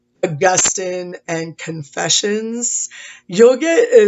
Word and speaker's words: Augustine: Agustin if you call them Augustine that's totally cool by the way if you go on YouTube and you look up a video called st. Augustine or San Agustin spelled the same way it's just a matter of how you pronounce it I've always said it